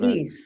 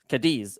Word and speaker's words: Cadiz: That's the way I pronounce it. Kad. All right. Well, that's the way we're going. Kadis. Kadis.